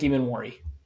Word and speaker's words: Emmanwori: Nick Emmanwori.